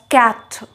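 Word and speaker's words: quatre: toa toa is that not easy four is pronounced as cat cat cat five is pronounced as sank sank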